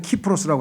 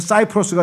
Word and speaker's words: 키프로스: 이걸 요즘에는 키프로스라고 하는데 왜냐면 C라고 하는 영어 철자가 라틴어로 읽으면 K로 발음해서 키 키프로스라 그래요.